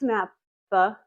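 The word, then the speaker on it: Fels-Naptha: I know a lot of people like Feld's naphtha. Yes, said it right.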